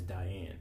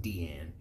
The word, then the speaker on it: Diane: asleep in the forest who introduces herself as Diane or well it's pronounced Deanne in the anime a member who is of